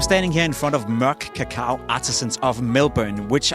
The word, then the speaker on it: Mørk: It is pronounced, our director is Swedish, so the actual proper pronunciation is Mørk.